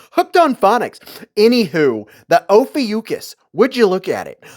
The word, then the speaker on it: Ophiuchus: It's the Ophiuchus. Yes, I know I pronounced that right because I looked it up and checked out the phonetics. Hooked on phonics. Anywho, the Ophiuchus.